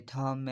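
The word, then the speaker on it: thumb: और दूसरा है खम, इसमें भी जो बी है वो साइलेंट है, जैसे कि थम है उसमें भी साइलेंट है, जैसे क्लेम।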